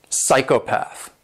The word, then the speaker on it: psychopath: Sticking with P's, if you have a P and S together, basically the P is silent.